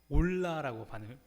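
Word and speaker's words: עולה: 그런데 히브리어로도 이걸 어떻게 발음하는가? 올라라고 발음을 합니다. 히브리어도 이게 올라예요.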